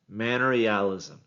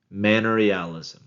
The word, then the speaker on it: manorialism: Manorialism. Manorialism. Some people in Texas are going to say manorialism because there's some towns in Texas that are pronounced that way, but no, manorialism.